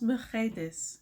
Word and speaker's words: Mercedes: The housekeeper, Mercedes, and I love the way this is pronounced in Spanish. It's pronounced Mercedes. Mercedes.